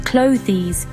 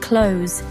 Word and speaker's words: clothes: Many learners pronounce the "the" sound saying clothes when it should actually sound more like clothes.